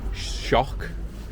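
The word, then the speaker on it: Şok: So like BIM, you got BIM A101 as shock which is it's spelled S but it's actually pronounced shock.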